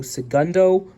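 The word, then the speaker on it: El Segundo: e l and then see e-l-c Segundo it's pronounced c e g u n d o so Segundo I have no idea in terms of what's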